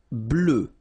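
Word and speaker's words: bleue: Bleu, bleu. So same thing that we had for noir, you just add this E at the end, but then you don't pronounce it.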